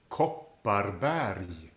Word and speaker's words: Kopparberg: Kopparberg. And there is 2 R sounds in this word, and they are rolled with the tip of the tongue behind the top teeth.